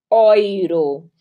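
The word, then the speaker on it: Euro: vai ter vi tá sempre sempre euu se pronuncia Oi então a gente vai ter oiro o El muito diferente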